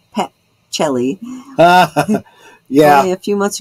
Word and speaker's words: Pacelli: Most of my family pronounces it that way, but that the C is pronounced as a CH, you know.